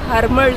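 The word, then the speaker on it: Harmal: पता होना चाहिए कि इस बीच का एक्चुअल नेम हरमल बीच है या फिर हरमल बीच बट इसका नाम प्रोनाउंस करते करते आई थिंक यह अरमोल बीच बन गया सो और इसी नाम से यह बहुत ज्यादा पॉपुलर है टूरिस्ट के बीच में एक्चुअल नेम इसका हरमल है तो अगर आप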